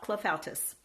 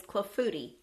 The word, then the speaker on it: clafoutis: clefatis it is not Cliff Altus it is not clafutis it is clofuti the S on the end is silent it is a weird